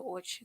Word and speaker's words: Orchards: Yes, I lived in a neighborhood called the Orchids. The Orchids. The orchids. Yeah. But it's spelled orchards, but it's pronounced orchids.